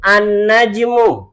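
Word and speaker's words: النجم: Karena cara membacanya berbeda. Baik, kita ulangi. Najmun an-najmu.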